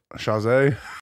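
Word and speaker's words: chaise: so let's say so basically it's like shea lounge like we've just kind of bastardized how we say it okay ramekin lounge a chase how do you say that you say or chase people say chase some people say shay some people say chaze the some people do say chaze right i don't know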